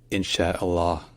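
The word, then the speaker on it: إن شاء الله: in Father Bel longer and finally we end with the S H sound and sometimes a oo sound but it's mostly silent so put it all together and it's insh Allah in Allah or sometimes in but again the U at the end is mostly silent so let's practice together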